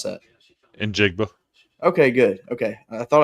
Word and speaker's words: Njigba: I've never been able to pronounce that. Njigba.